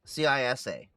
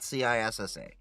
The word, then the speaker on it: CISA: CISA. Not CISSA.